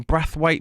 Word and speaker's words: Braithwaite: it uh braithwaite or apparently a lot of people are calling him breath weight but it's breathe weight to me as far as i'm concerned brathwaite up front